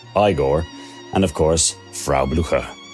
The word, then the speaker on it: Igor: Inga his inconsistently hunchbacked sidekick eigor pronounced igore and of course fra